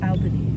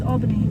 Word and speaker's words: Albany: to Albany New York I just pronounced it wrong we get mad people who say Albany it's Albany one time I was